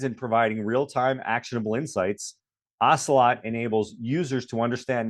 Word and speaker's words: Ocelot: And And the correct pronunciation is Ocelot, right? Correct. Ocelot.